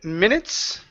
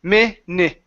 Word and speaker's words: minutes: Let's go to the word minutes. Okay. Give me short i sounds. So, instead of minutes, it's m i mnit.